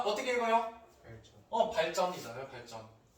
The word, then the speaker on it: 발전: 발전. 발전이잖아요, 발전. 얘도 이상하죠? 유음인데 뒤에 된소리가 되고 있어요.